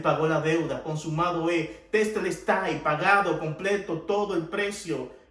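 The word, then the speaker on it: τετέλεσται: Esta palabra consumado es, en griego es la palabra que se pronuncia tetelestai.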